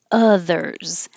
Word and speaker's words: others: it out absolutely absolutely others and we just found out that not everybody is pronouncing the o as an uh because it looks like an o but it sounds like an uh others statue of liberty